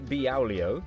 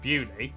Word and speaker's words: Beaulieu: Starting in Beaulieu. Beaulieu.